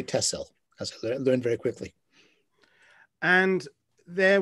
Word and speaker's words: Texel: largest of the islands it's called tessel it's spelled techcell with an x but the dutch say tesla learned very quickly and